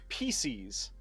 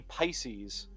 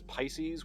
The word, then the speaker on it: Pisces: He named him Pisces. Rhymes with feces, but it's supposed to be Pisces, or at least how I would pronounce it is Pisces, which is a constellation, you know, the fish.